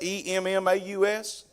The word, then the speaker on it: Emmaus: Can anybody pronounce that? E-M-M-A-U-S?